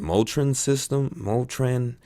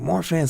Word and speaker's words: Marfan: She even mispronounced it. What is it? Motrin syndrome. I was like, Marfan syndrome.